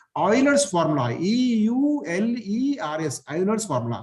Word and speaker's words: Euler: 9th class में कि ऑयलर्स formula, EULERS, ऑयलर्स formula, spelling थोड़ा ऐसा है, प्रोनाउंसिएशन उसका ऑयलर है, ऑयल में ऑयलर कैसा बोलते हैं, EULERS को ऑयलर्स फॉर्मूला, ऑयलर प्रोनाउंस करते हैं उसको, ऑयलर्स फॉर्मूला।